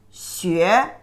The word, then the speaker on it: 学: The pronunciation is 西约学 second tone.